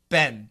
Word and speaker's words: been: B-E-E-N. This is American pronunciation. Ben, Ben, Ben, Ben, Ben.